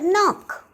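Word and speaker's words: knock: परंतु अगर के बाद इमीडिएटली एन आता हो तो के साइलेंट बन जाता है। अजीब बात है ना दोस्तों, के अपनी आवाज़ ही खो बैठता है। इसका उदाहरण है नी, नाइफ, नो और नॉक।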